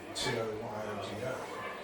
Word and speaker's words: Toyoda: pronounce their, I mean, the Toyota Motor Company is actually owned by the Toyota family, Toyoda, but they actually changed the name of the company so that it's not mispronounced, which I've always found.